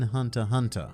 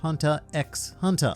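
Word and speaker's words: Hunter × Hunter: shocking fact number 10 you do not pronounce the x in hunter hunter i must apologize for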